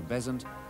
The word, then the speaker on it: Besant: with her daughter Mabel changed the pronunciation of her name from bazan to bezants and started a new